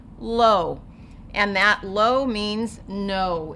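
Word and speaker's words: לא: When you see that dot above a letter, it's going to say O, so you're going to say the sound of the letter first, lo.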